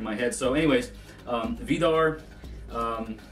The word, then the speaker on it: Víðarr: head so anyways um vidar um we're using a uh re medieval uh pronunciation of the gods names so vidar is an old norse name you'll see it up